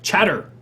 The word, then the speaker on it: Chatr: They've decided to launch Chatter, another discount brand. And if you follow Flickr, it's spelled the same way. Apparently, we've abandoned the letter E. CHATR.